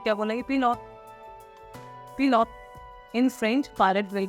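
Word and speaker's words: pilote: पिलॉट। पिलॉट। In French पायलट will be पिलॉट। पिलॉट। Trivia. Next it has same spelling, there is no change in the spelling.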